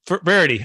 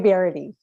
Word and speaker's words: Verity: the show with me brady rarity i'm so bad at that pronounce it for us please you're so close verity excellent welcome to the